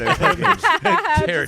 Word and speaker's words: Daragh: Because it's just like, it's pronounced Daragh.